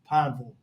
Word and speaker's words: Pineville: This is not Louisville. This is Pineville.